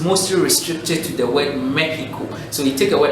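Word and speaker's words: México: mexico in the english in spain we say mexico so it's the same spelling just that it has an accent on the e but the x is produced that he not x so right now we've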